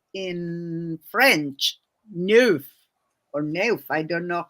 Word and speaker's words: neuf: I still remember in a Nancy Drew book about a number 9 that she said in French, neuf or neuf. I don't know how to pronounce it.